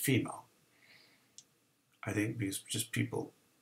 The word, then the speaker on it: FMEA: And oftentimes we'll look at something called a failure mode and effects analysis, which even though it's FMEA, it's pronounced FEMA.